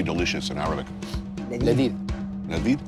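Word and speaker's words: لذيذ: Ladid. Ladid? Ladid, yeah.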